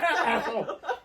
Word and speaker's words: Athol: Yeah, because I don't think it's called Athel. Apple? Athel? Apple. Because well, it's Massachusetts. That's right. Athel. Local.